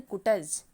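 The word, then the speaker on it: Koontz: उसी बात को हैरोल्ड कुंट्ज ने भी कहा, या उन्हें बोलते हैं हैरोल्ड कुटज, हिंदी में कुटज, कुटज का सिद्धांत, या इंग्लिश में बहुत सारे लोग प्रोनाउंसिएशन उनका यही रहता है, कुंट्ज।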